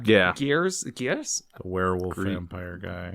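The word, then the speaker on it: Gries: Gears? The werewolf vampire guy. Grease.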